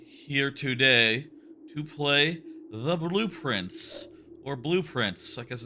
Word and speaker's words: Blue Prince: So blueprints, which we will make sure to pronounce as two words, blue and prints, and not let it all like blur together into another word that sort of a pun.